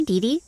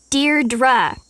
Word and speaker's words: Deirdre: sonnet or something hi didi Deirdre I know it's got that tricky second syllable but I figured it out by age two don't give up you'll